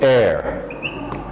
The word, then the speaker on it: heir: He was the heir. It's just like AIR in the pronunciation. He was the heir to his father's estate.